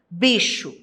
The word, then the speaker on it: bicho: duas letras por exemplo bicho possui quatro fonemas e cinco letras porque o ch tem o som de uma letra Só que nesse caso é a letra x assim o dígrafo ocorre